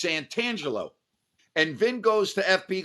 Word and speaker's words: Santangelo: on mispronouncing your name instead of santangelo he was calling him san angelo without the t so time went by